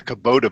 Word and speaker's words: Kubota: It's the Kubota Bader.